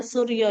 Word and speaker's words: Soerjo: Kalau orang dulu tulisannya Soerjo itu bacanya Suryo ya, Rek ya.